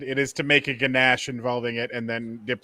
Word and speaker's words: ganache: It is to make a ganache involving it and then dip that in chocolate. So It's ganache. Ganache, whatever. It's spelled ganache, and I'm American, so yeehaw!